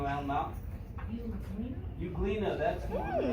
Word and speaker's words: euglena: The E is silent.